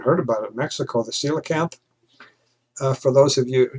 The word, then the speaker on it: coelacanth: about it mexico the coelacanth for those of you who don't know how to pronounce it i believe that's how you pronounce it it's coelacanth though the spelling is is kind of weird but this is protect